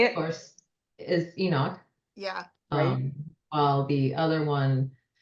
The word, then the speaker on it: Enoch: right way to say it of course is Enoch yeah while the other one is a jerk